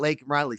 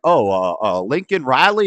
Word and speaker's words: Laken Riley: And he says her name wrong. And he's like, Lincoln Riley?